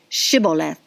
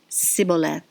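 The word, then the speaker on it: Shibboleth: they said to him now say shiboleth and he said siboleth for he couldn't manage to pronounce it right then they laid hold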